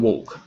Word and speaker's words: walk: Can you pronounce work and walk?